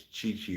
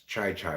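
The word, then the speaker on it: Chi Chi: Some people like to say his name's Chichi Rodriguez, but I say it's Chai Chai Rodriguez. Sounds better that way.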